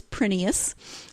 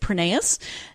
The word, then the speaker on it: Prineas: And she says it is Prineas. It is Greek. And actually in Greece, they would pronounce it Prineas. But when her husband's family emigrated, they changed it to Prineas.